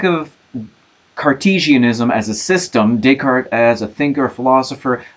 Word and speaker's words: Descartes: I feel like we've just begun the class and we're already talking about René Descartes, or as we say in English, Descartes.